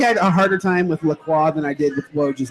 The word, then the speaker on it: Lacroix: Is it Lacroix? Close. Lacroix. Duke Lacroix.